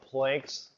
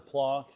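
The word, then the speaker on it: Planck: his assumption was what Plank's assumption was or plon is the correct way to say it but I don't care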